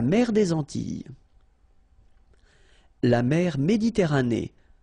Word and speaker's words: Méditerranée: La mer Méditerranée. Okay, here final not pronounced, but then you pronounce this E at the end. Méditerranée.